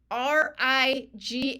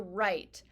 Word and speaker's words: right: g HT for Sight r i g h t for right I don't know why we make g h silent it looks like it should be rig but it's right r i g h